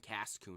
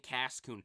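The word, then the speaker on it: Cascoon: the tier list and I'm getting the name wrong already it's silon and Cason right silon and Cason silon evolves into beauly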